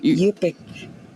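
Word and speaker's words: Yup'ik: Yungtun? Yupik. It's actually Yupik, because when you say Yuchtun, you're saying in Yupik. So it's like an incomplete.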